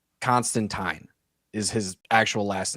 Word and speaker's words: Constantine: Canonically, he's John Constantine, not Constantine. Okay. The movie is what changed it. If it weren't for this movie pronouncing his name as Constantine every single time, he would canonically still be John Constantine. Like turpentine.